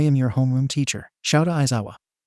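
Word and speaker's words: Shouta Aizawa: your home room teacher shouta isawa and yes that is how you say my name and whoever says otherwise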